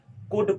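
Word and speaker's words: could: ठीक है, वे 10 कौन कौन से है, तो कैन, कुल्ड नहीं पढ़ते इसको मेरे दोस्त, कुड पढ़ते हैं। यहाँ पे एल जो होती है हमारी, वो साइलेंट लेटर होती है, साइलेंट हो जाती है।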